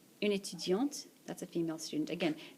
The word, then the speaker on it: étudiante: Une étudiante. Une étudiante. That's a female student. Again, this letter is silent. Un étudiant, une étudiante. Because of the E, the T gets pronounced here.